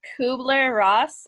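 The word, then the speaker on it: Kübler-Ross: please say her name again okay so it's kubler-ross and it's called k-u-b-l-e-r dash r-o-s-s okay so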